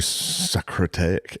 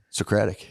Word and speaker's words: Socratic: It's very sacratic. It is. How do you say that? Socratic. Socratic. That was it.